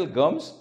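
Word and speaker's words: gums: दुसरा शब्द आहे गम्स त्याच स्पेलिंग असा आहे जी यू एम एस गम्स त्याचा उच्चारण असेल गम्स आणि त्याचा अर्थ असेल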